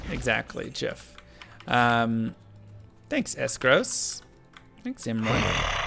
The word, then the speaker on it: GIF: below you is going to hit that it's pronounced jiff exactly jiff um thanks eskros thanks emery s gross